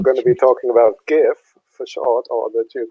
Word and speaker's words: GIFF: to play excellent and we do love the gift of n we're very look very much looking forward to it and we now know it is pronounced gif not good jiff good yes as some of our geocaching things